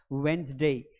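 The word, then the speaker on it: Wednesday: मतलब ड को हम प्रोनाउंस करने की कोशिश कर रहे हैं। लेकिन एक्चुअल में ये जो बुधवार होता है इसे इंग्लिश में कहा जाता है वेडनेसडे।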